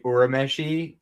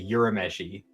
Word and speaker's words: Urameshi: the live action and hearing them say urameshi cuz I'm used to the the Funimation dub where they say yurameshi you say I know I know uri is technically the correct way to say it but it still weirds me out when I hear it.